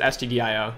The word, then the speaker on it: stdio: Yeah, I sometimes pronounce this as studio just to bug people. But yeah, usually people, I think, just say STDIO. Y'all can correct me in the chat if we have any experienced C programmers. But yeah, I always just pronounce it STDIO. You can say studio, though.